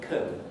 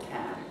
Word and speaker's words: can: I want to say in British English, I can do that, or something of the sort, with weak form can or can. But if instead of can, you say can, I can do that.